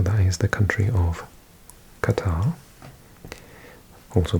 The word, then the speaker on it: Qatar: pronounce it Qatar, but in Qatar, this Q sound is actually pronounced as a G. So in Qatar, Qataris pronounce their own country as Qatar, or Qatar, with a T sound. Qatar. Sounds a bit more like a guitar, like the musical instrument.